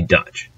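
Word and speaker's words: Duits: Now, German in Dutch is Deutsch, or D-U-I-T-S, pronounced essentially Dutch.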